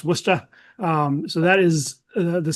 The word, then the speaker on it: Worcester: Uh, it's pronounced Worcester.